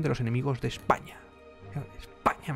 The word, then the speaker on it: España: los enemigos de España España me gusta así haciendo con acento en la a en la primera el comisario Jaime barrero